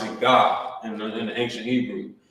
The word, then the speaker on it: Gad: their name like this Gad but in the ancient Hebrew remember you will pronounce it you will pronounce it God in in the ancient